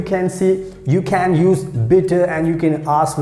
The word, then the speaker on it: bitte: so in german language we say bitter b i double t e and how we pronounce bitter bitter so you know you